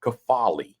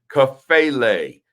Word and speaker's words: Kafele: Well, let me tell you a little bit about Principal Kafale, right? So they'll mispronounce Kafele, Kafele, all it, and I'll yell from the audience, Kafele, right?